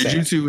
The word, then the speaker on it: jujutsu: Actually, he's pronouncing that wrong because the way he spelled it is jujutsu. Jujutsu. Well, jujitsu is spelled with it's two words, and it's jitsu is JITSU, but whatever.